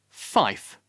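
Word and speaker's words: five: 4 should be pronounced four. 5, fife.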